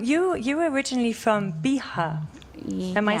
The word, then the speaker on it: Bihar: that so um you you were originally from bihar am i saying it right yeah yeah it's via pronunciation is it a small place where is